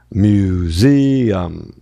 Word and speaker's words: museum: E então eu tenho mil, ó, o apóstrofo aqui mostrando que a sílaba da frente aqui dele é a tônica. O pontinho tá separando a terceira. Olha o U fazendo som de Então eu venho museum.